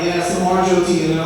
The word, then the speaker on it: Jyoti: My middle name is Jyoti. It's spelled J-Y-O-T-I, and it's one of those annoying foreign names that's not pronounced the way it's spelled.